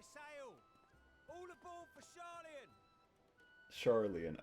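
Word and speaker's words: Sharlayan: Charlian, okay, that's how you actually pronounce it.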